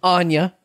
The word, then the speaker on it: Anya: very talented individual um anya i i've always mispronounced her name i've just picked up on a mispronunciation of mine always called her anna taylor joy oh okay i see anya um is a talented